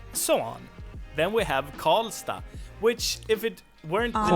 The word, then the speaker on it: Karlstad: city in Swedish but in most city names you would pronounce it as sta. So in this case we have Karlstad the city or town